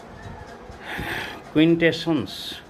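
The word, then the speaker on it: quintessence: Number 5 क्विंटेशंस। एक शब्द है, क्विंटेशंस इसको पढ़ते हैं।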